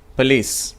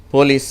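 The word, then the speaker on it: police: 534வது வார்த்தை பலீஸ். பலீஸ் என்று சொன்னால் நம்ம சொல்கிறோம் இல்லையா, காவலர் என்ற அர்த்தம். அது அப்படி தான் உச்சரிக்கணும், சரியா? நம்ம என்ன தவறாக உச்சரிக்கிறாங்க தமிழர்கள், போலீஸ் அப்படிங்கிறாங்க. அதை எப்படி உச்சரிக்கப்படணும்? பலீஸ் அப்படின்னு சொல்லணும். அடுத்த வார்த்தை டின்னர்.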